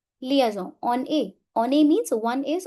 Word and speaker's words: on est: Here n will overlap the sound of e and this is called as liaison. Liaison. On est.